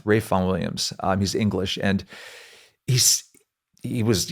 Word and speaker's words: Ralph Vaughan Williams: But my favorite composer, if I had to make there's a composer called Ralph Vaughan Williams, but pronounced Rafe Vaughan Williams.